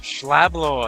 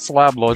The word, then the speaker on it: Schlab Lord: Schlablord. Yeah, not Slab Lord, Schlab Lord. No. SCHLAAAAB. Ah. In Norway they would pronounce that Schlablord.